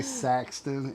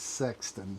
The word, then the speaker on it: Sexton: Because I always say Saxton, and it's Sexton.